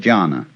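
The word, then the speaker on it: dhyāna: which in turn is the Chinese way of pronouncing the Sanskrit word jhana.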